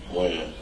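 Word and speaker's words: Wynn: Win. Win? Or Wen?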